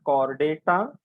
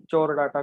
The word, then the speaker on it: Chordata: Please remember the pronunciation. It is called chordata. Okay, and there are students I have seen college में viva वगैरह लेते वक्त चोर डाटा करके बोलते हैं. There is nothing like that.